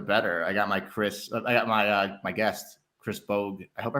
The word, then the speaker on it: Chris Bogue: I got my guest, Chris Bogue. I hope I pronounced it correctly.